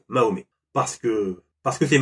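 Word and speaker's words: Mahomet: musulman ni d'origine arabe je le prononcer à la française donc mahomé parce que parce que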